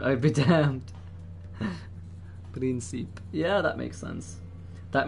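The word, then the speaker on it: Príncipe: It's actually pronounced Principe.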